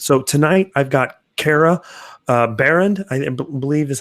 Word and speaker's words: Behrend: getting into this so tonight I've got Cara Behrend I believe is how I pronounce the last name yeah you got it